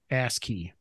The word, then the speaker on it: ASCII: say ASCII or how do you say that it's asking I think it's I think it's ASCII ask key the key to your